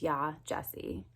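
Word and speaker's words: Yaa Gyasi: heck and in addition he didn't even say her name right and i feel like names are super important so if you're gonna bash this book at least say her name right it's yah jessie um yeah i just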